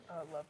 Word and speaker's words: Lover: Hudson, is your last name Lover instead of Love? Did I say it wrong? Lover.